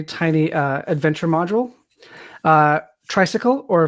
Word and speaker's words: Traysikel: uh Adventure module uh tricycle or phonetically as it's pronounced tricycle is a system agnostic